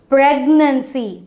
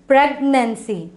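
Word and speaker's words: pregnancy: இதை வந்து ஃபஸ்ட்டு சிலபிளில் தான் நம்ம என்ன பண்ணோம், ஸ்ட்ரெஸ் பண்ணோம். அப்போ எப்படி ஸ்ட்ரெஸ் பண்ணி பேசலாங்கிறத பார்க்கலாமா? ப்ரெக்னென்சி, ப்ரெக்னென்சி, ஓகேவா? ஷி காட் ப்ரெக்னென்ட், ஓகேவா?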